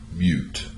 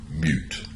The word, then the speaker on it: mute: but the second one notice it ends with the e the e is silent so the preceding vowel takes on the hard sound so it is mute but mute you hear the difference